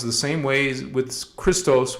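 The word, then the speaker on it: Kristos: Christos with a K sounds the same way as with Christos with a CH.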